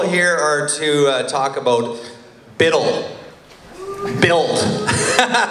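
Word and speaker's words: BUIDL: How many people here are to talk about Biddle? Build. It's actually pronounced Biddle, we found out.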